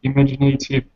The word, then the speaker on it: imaginative: abstract image and assess imaginative answers to questions like... Wait. Images? Images, 3 syllables. Images. Images. And imaginative. Imaginative. Imaginative. Right, so image has a different sound with the letter A than imaginative.